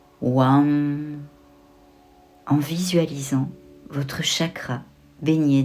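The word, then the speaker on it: VAM: utiliser son mon Manra le mantra WAM il s'écrit V a M vous pouvez répéter WAM WAM en visualisant votre chakra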